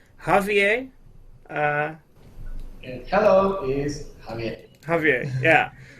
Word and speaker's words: Javier: Javier, yeah. Even though his name is spelled with a J, you apparently say it with an H.